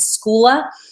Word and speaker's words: Schoola: The other site that could be worth grabbing deals from as well is Schoola. It's spelled like school with an A at the end.